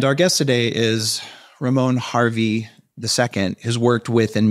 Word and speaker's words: Hervey: The last name is Hervey. Did I say it wrong? But I get a lot of people that call me Hervey.